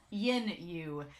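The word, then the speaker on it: Yin Yu: use name wrong because I've been calling him you like the whole time it's Yin you yes if you all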